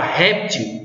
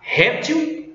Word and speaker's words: réptil: Não está, porque a palavra réptil eu posso pronunciar réptil ou réptil, ou seja, ela pode ser paroxítona ou oxítona.